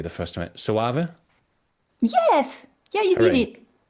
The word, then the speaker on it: Soave: So thinking about and I want to see if I can pronounce it correctly the first time. Save.